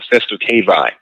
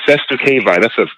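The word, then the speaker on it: cestui que vie: There was something called the SCURV, and I'll spell it. It's called CESTUI. The next word QUE. Next word VIE. The SCURV, that's a Latin word, and it just refers to a certain type of trust.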